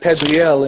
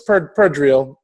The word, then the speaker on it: Perdriel: I have a few actually Facebook accounts, but my name is Perdriel. We pronounce it Perdriel in you know, I guess in the Latin and French or whatever, Perdriel, but it's Perdriel.